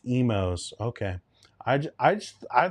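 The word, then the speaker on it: Imo's: Uh all right, imos pronounced emos.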